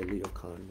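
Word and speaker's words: Ryōkan: I don't know the right pronunciation. I've heard Japanese say Ryo Kan.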